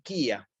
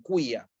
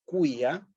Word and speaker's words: quia: Pero en latín tenemos que hacer el esfuerzo de decir, pronunciar esta U también, quia, ¿sí? Quia, ¿sí?